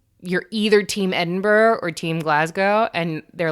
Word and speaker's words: Edinburgh: all my American friends it looks like Edinburgh it is most assuredly not so don't pronounce it that way I will some actually